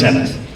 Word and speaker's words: Emeth: I'm not even sure how the heck to pronounce this. Apparently it's Emeth. What? I'm a soldier, not a reader. You were correct. Emeth.